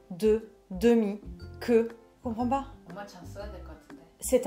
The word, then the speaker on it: demi: Le deuxième, c'est le mot demi, D-E-M-I. Oui. Merci beaucoup. Demi, même si c'est pas visuellement écrit E-U. Tout à fait. La prononciation est la même.